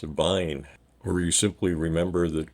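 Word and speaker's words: Wein: the American wine except the W is pronounced as a v so it's a Vine or you simply remember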